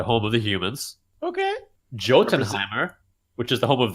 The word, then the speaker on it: Jotunheim: Jotunheimer, which is the home of the giants. I think it's pronounced Jotunheim.